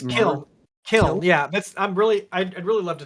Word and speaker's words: Kiln: Yeah, and the thing is that, like, for example, I helped out with I'm gonna mispronounce this, the Clin. It's Kiln.